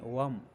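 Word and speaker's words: वं: बीज मंत्र इसका वम है, बम नहीं, वम, वा वाला वम।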